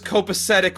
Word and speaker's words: copacetic: This is really funny when they're driving home and he mispronounces copacetic, and she's like, Millie's like, the word is copacetic, Marty.